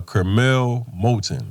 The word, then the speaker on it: Curmel Moton: he's like that uh young 16year old uh Kel molon right yes sir I said it right got